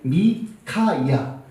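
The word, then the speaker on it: מיכיה: 미가서인데 원래 미가서는 미카야예요. 원래 이름이 미카야예요. 원래 히브리 발음이 미카야.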